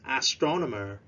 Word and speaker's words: astronomer: two astronomer repeats please astronomer remember to stress at the second syllable astronomer yeah a scientist